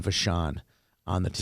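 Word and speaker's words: Vachon: like bishof or something no no that was vashan is the his linemate okay VA I thought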